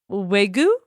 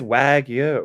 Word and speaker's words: wagyu: tuna double wagyu now is it pronounced way goo i think it's wagyu right wag you like university i'll have a wag